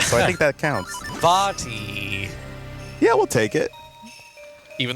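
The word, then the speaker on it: Vaati: He's so cute, and his name's pronounced with an E sound, so I think that counts." Vati.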